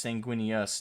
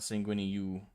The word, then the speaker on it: Sanguinius: welcome to the stream it's it's sanguini us not sanguini you oh I get it